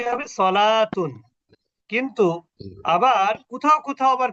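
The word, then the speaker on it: صلاة: এটা উচ্চারণ কি হবে? সলাতুন।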